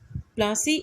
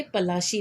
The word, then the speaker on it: पलाशी: तो जो पलासी नाम है, इसका असली नाम पहले पलाशी था, जिसे कि अंग्रेज़ों ने उनकी प्रोनाउंसिएशन के हिसाब से उन्होंने इसको थोड़ा बिगाड़ कर प्लासी कर दिया।